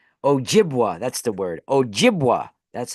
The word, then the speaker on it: Ojibwa: a a weed Ojibwa that's that's the word Ojibwa that's how you say it Ojibwa especially of an ojas you know this is